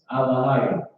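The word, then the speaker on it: אלהים: How you pronounce it? Alahayim.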